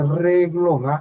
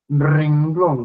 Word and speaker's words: renglón: Ah por cierto colegas no se dice reglón la forma correcta es renglón con n de ya de repente